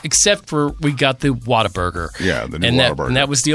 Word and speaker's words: Whataburger: is they call it Whataburger Whataburger when you are saying a sentence what do you say the word w-h-a-t how do you say it what right so it's Whataburger what a burger I mean that's correct